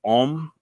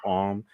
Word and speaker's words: Ogham: The Om, which is written like Ogham, but Mm-hmm. it's pronounced Om.